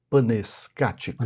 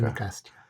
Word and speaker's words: panecástica: a alegria de ler, você cita a panescática. Panecástica e é pancá panecástica. Eu pronunciei errado.